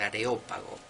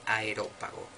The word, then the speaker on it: Areópago: de pseudo Dionisio areopagita y no es aerop pajita que a mí me ha pasado mil veces de pronunciarlo así por pronunciarlo rápido es areopagita del areópago no del aerópago areópago bueno dos libros